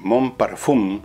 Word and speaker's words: Mon Parfum: línea en monpar cl Mon parfum se escribe así pero se pronuncia mon parfum y no tenga miedo